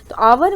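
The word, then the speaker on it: hour: word किया हुआ आवर आवर mature आगे जो लगा है वहीं वह साइलेंट वर्ड यानि कि उसको नहीं हम लोग गैप रिनंसीएशन में हम लोग हार नहीं बोलते हैं बल्कि आवर बोलते हैं तो यहां पर साइलेंट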